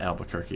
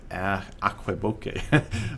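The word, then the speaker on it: Aquebogue: It's not Albuquerque. It's Aqueboque.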